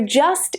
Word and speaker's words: just: So just is unstressed. You just hear the schwa.